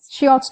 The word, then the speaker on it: Schiotz: Schiotz? That's right, guys. Schiotz Tonometer.